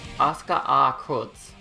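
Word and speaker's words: Asuka R♯: Okay, it sounds like they're not pronouncing the sharp as a sharp. Oscar R. Kutz. Yeah, that's the normal pronunciation of his name, not the sharp symbol.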